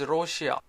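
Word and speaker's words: ロシア: different word for example Russia is Rocha in Japanese India is Indo and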